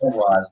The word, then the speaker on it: Maguas: looking how to spell it. Yes. Maguas, baby.